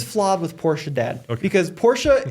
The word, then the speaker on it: Porsche: with Porsche dad because Porsche is how you say it in German but then you say Mercedes like an American see the problem so you say pora like a German but you don't Sayes I'm not saying you